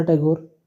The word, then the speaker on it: टैगोर: अंग्रेजों ने ठाकुर शब्द का उच्चारण अपनी सहूलियत के लिए थोड़ा बदलकर टैगोर करना शुरू कर दिया। ठा ध्वनि को उन्होंने बदलकर टे या ट कर दिया। कुर ध्वनि को बदलकर गोर कर दिया।